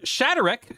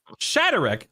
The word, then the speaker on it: Shadarek: We also have uh Shatterk, who I was mispronouncing his name until about two minutes ago, so you'll probably hear me emphasizing Shatterk multiple times throughout the show.